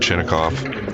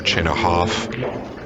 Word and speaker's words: Chinakhov: He's playing the great Ruland Chinoikov or Chinahhoff as it's probably pronounced.